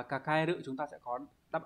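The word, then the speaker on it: 抱える: Thì đọc là kakaeru, chúng ta sẽ có đáp án đúng là số 4, đúng nhỉ?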